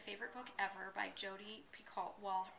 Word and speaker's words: Picoult: book ever by Jodi Picoult. Well, her name is Picoult, but it's spelled Picoult, which I always think is Picoult, but it's not, it's Picoult.